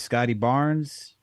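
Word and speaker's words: Scottie Barnes: Barnes I think you said it right it's Scotty Barnes and that's about it I mean they got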